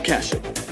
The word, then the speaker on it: Kashyyyk: slaver Peck had escaped on a Kashyyyk is how you transport with a pronounce it.